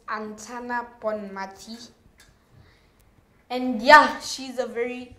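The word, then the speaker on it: Aitana Bonmatí: Now, the women's Ballon d'Or, that was announced by Novak Djokovic, was given to Antina it's a very difficult name to pronounce. I believe it's Antana Bonmati.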